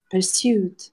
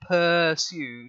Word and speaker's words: pursued: Yes, the stress is slightly different. So it's not pursued, because it's not like a per pound. Okay, it's to pursue. Yeah. Pursued. So you've got your stress is on the second syllable there.